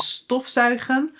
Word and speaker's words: stofzuigen: "STOFzuigen" (to vacuum).... But isn't the rule that the emphasis should be on the second part, i.e. ""stofZUIGEN"? No... "STOFzuigen"! And "VOETballen" (to play soccer/football).